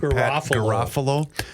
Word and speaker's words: Garofalo: I always forget how to pronounce his last name. Is it Pat Garofalo?